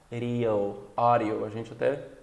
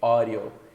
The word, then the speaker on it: audio: é mais uma vogal, vai ser pronunciado como o som do R brasileiro, que é R, tipo para. Então, alguns exemplos aqui. Audio, nós vimos recentemente. Audio, querem, não que.